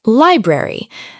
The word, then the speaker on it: library: Library. Many learners accidentally say every syllable very slowly. Native speakers often say it smoothly.